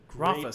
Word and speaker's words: Rothfuss: So Rothfuss is a great Rothfuss. That's how you pronounce it? Patrick Rothfuss. Rothfuss, yeah, great author.